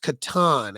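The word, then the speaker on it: Catan: of those all right so tiana's pronounced katan actually because it was a german word for farm oh yes your mom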